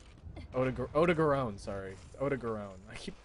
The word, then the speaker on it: Odogaron: No, Evil Dog is Ebony Adogarin. Odogarone, sorry.